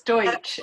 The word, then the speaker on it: Deutsch: more excited than to welcome my friend Deutsch, and please correct me if that's not the way you pronounce it. It's fine. You're very close. Deutsch.